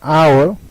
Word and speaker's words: hour: honest mistake, in an hour, it's an honor to be here. So you see, when H is pronounced in historical, we used article a, and when H remains silent as in honest, hour, honor, we used an.